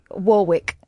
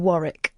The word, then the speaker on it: Warwick: for example, um so if someone says uh Warwick, you can tell that they're not not English. Hang on. What do you mean? Like instead of Warick.